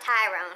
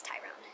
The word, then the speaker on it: Tyrone: It's not Tyrone, he ain't a brother. That's how his name would be pronounced, is Tyrone.